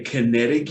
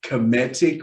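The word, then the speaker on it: Kemetic: called comedic yoga a lot of people say kinetic yoga which is cool because kinetic energy is amazing but this is cometic with an m as they marry in the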